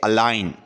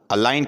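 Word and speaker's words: align: Next है अलाइन, अलाइन कहते हैं कतार को या बांधने को। ठीक है, तो इसमें जी साइलेंट है।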